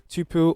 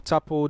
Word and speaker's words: tuple: topic for today is the tupel or tapple data type the pronunciation depends on where you are coming from so the triple or